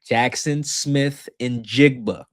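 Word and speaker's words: Jaxon Smith-Njigba: You can maybe first reference Jackson Smith and Jigba. Take your time. That last part my white people out there. Take your time. Jackson Smith and Jigba. That's it.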